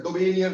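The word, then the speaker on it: Döbereiner: तो हम डेबोरीनर बोले डेबोनियर बोले उससे कोई फर्क नहीं पड़ने वाला। मैं डेबोरीनर बोलता हूं स्पेलिंग्स को देख करके।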